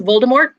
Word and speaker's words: Voldemort: um and then voldemort we've all been pronouncing voldemort wrong like it's supposed to be the french yeah it's like the t is not supposed to be yeah i'm like look look it's voldemort yeah because that's like